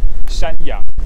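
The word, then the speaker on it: 山羊: I would say that is good because a goat in Taiwan is in Chinese say we pronounce it as shanyang, just mountain goat.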